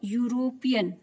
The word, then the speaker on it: European: Next example है, any Mary is अ यूरोपियन। यूरोपियन, EUROPEAN, तो यूरोपियन में spelling क्या होती है, ई से स्टार्ट होती